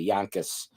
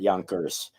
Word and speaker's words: Yonkers: up in Yonkers New York you have to pronounce it correctly Yonkers not Yonkers um but I grew up in Yonkers New